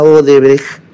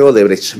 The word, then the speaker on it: Odebrecht: exdirectivos de la empresa Odebrecht. No, él dice Odebrecht, porque ni siquiera puede pronunciar el alemán. Es Odebrecht.